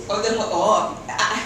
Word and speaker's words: Olde Heuvelt: pronounce Olde Heuvelt. Olde Heuvelt.